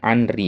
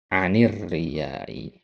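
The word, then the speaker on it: عن الرياء: tadi alif lam hilang tadi antum bacanya anai ya. Enggak mungkin antum enggak tahu ini. Enggak mungkin enggak lihat alif lamnya tapi kadang enggak sadar gitu-gitu ya. Enggak sadar aja alif lam itu hilang gitu. Nah, jadi yang benar apa? Anir riyai ya kan?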